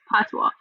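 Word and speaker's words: patois: right so it's it's called the it's called pwa it's spelled p p a t o i s but it's pronounced pwa so you know Jamaicans still speak English but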